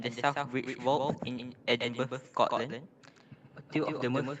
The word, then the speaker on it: Edinburgh: That's how you pronounce it. Edinburgh.